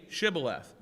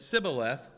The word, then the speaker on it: Shibboleth: Then said they unto him, Say Shibboleth. And he said, Sibboleth, for he could not frame to pronounce it right.